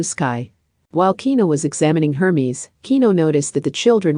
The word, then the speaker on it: Hermes: that's a funny name harmes one of them asked no no it's Hermes not har but her it sounds weird when you say it like that harmes I told you it's not her Hermes while the innocent children